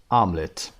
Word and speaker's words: omelet: اما تلفظش آملت.